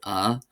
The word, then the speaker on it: an: However, my general rule is before a consonant I shorten to ah, which is similar to garlic in Scotland. Uh, and then before a vowel, I'll pronounce it as an make it easier to pronounce the word that begins with a vowel afterwards.